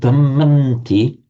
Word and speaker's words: dhammanti: You can write it like that, but you pronounce it dhammanti because the would become a n under the influence of the following t.